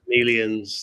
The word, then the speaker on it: Melians: are going to attack am I going to pronounce this right? The Melians? Melians, that's right.